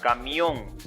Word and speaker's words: camión: Miren, por ejemplo, la palabra camión. Su fuerza está en la última sílaba. Termina en N, por eso se tilda.